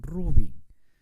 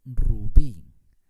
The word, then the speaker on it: rubí: bien veamos otro ejemplo la palabra rubí no se dice un rubí se dice rubí como es una palabra